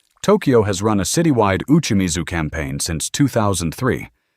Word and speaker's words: uchimizu: The Japanese answer is a practice called uchimizu, pronounced uchimizu, going back to the ado period in the 17th century.